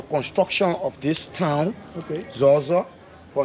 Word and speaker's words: Zorzor: So, is there the real pronunciation that we have today, Zoza, or there's a way that you pronounce it as Loma? It's Zoza.